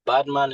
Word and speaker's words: Badman: all come about oh yeah well so um badman is just so the way it's actually pronounced I get a lot of people like